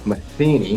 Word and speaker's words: Matheny: Matheny.